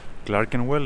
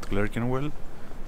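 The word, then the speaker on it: Clerkenwell: to get this straight i think it's pronounced clark and well and not clerking well but yeah you know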